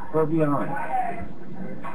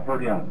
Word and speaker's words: Purviance: Is that did I pronounce this correct? Well, it's Purviance. It's Purviance. Purviance. Yeah, Purviance.